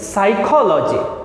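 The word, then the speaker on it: psychologist: the first world S साइकोलॉजिस्ट यहां पर piece silent और जहां भी लॉज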